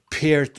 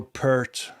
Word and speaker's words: Peart: drumming, of course, when Neil Peart or Peart, however you say it. Yeah, there's different versions. Some say it one way and some say it the other way. But Peart, I think, is how you say it.